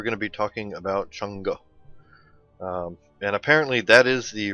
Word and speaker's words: Chang'e: however pronounced young gay change but apparently chango is the correct way to pronounce this goddess's name so let's take a